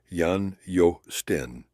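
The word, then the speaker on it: Jan Joosten: To be precise, though, aboard the same Liefde was a Dutchman named Jan Justen, pronounced Jan Jo Sten.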